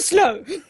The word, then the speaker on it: Slough: Who said it was next to Slough? And it's Slough. But anyway, That makes it worse. it's spelled S-L-O-U-G-H. Slough. Slough.